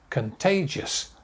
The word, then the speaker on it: contagious: self quarantine self quarantine next word contagious contagious three syllables contagious weak strong weak contagious next word lock down